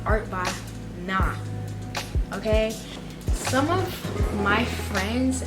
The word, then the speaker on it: Art by Nye: So for those of you who are wondering, I kind of pronounce my channel name as Art by Nye, but it's not Art by Nye really. It's more like Art by Nah, okay?